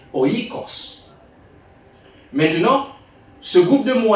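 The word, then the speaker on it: οἶκος: Dans le grec ancien, il prononcé oikos.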